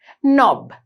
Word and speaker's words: knob: knob කියලා කියන්නේ මේ letter K එක මෙතනදී silent letter එකක්. අපි ඒක knob කියන්නේ නෑ. knob. හැබැයි අපි ලියනකොට K අකුරක් අපිට තියෙනවා එතන. knob.